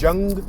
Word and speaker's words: Jung: Jung, without the jungle, like without the L.